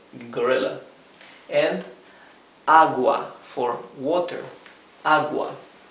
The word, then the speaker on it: agua: And agua for water, agua. Here, the U is not mute, right? We do pronounce the U, agua.